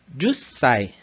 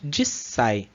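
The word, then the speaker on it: 十歳: O 10 a gente pode pronunciar Jussai. 10 歳、 Então a gente perde aquele U final aqui e vira Jussai. Existem algumas regiões ou algumas pessoas que também pronunciam apenas Jissai.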